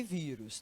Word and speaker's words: vírus: vai poder perceber que a sílaba mais forte inclusive ela vem acentuada é a penúltima né Nós temos a